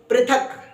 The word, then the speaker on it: पृथक: तो हमने कहा भ्री अब प के पैर में ऋ लगा तो कहेंगे प्री प्रीथ क क हलंत है तो क को जल्दी ही बोलकर चुप हो जाना है तो कैसे कहेंगे पृथक पृथक पृथक फिर से बोल कर